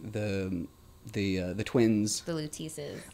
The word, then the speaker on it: Luteces: The Luteces. I keep getting that name wrong. It's cool. I keep calling it Lucettes because it's like you don't pay attention to the middle words.